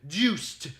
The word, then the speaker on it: Juste: They are, at the top, Leon, Sonia, Trevor, Christopher, Simon, Juiced, Juste, just with an E at the end. Juiced is how you pronounce it.